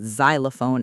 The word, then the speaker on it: xylophone: If I told you about a xylophone elephant, you'd say a xylophone elephant, not an xylophone elephant. Because xylophone starts with a consonant sound, even though it's spelled with X.